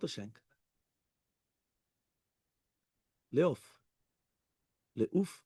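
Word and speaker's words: l'œuf: Leof. Leuf. How do you say it? No. The egg. The egg. The egg. Leuf. Leuf. Oh, okay, fine. It's O-E-U-F, no? O-U-F. Leuf. Okay, so it's Leuf.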